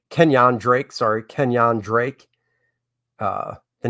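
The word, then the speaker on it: Kenyan Drake: josh is a niner uh then we got kenya drake kenyon drake sorry kenyon drake uh the names up here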